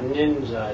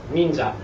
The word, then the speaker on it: ninja: And same with ninja. It's not ninja. It's ninja. Right. Ninja. Ninja.